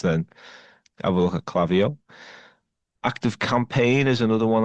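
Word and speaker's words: Klaviyo: There is another platform called Clavio, which is spelled K L A V I Yo, which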